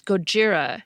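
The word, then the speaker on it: ゴジラ: the 1954 movie as Gojira, not Godzilla. That's because Godzilla is an anglicized version of the Japanese word Gojira.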